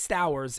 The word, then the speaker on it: Stowers: And Tyler said it right. It's Stowers is their outfielder. That's correct.